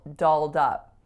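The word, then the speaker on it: dolled up: I mispronouncing that expression so actually on both of my vowels here so I said o both pure vowels but in this case I would say we were all doled up doled up so that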